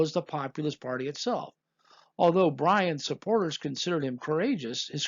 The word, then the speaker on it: Bryan: Bryan, which rhymes with lion and a near homonym of lying, was known for his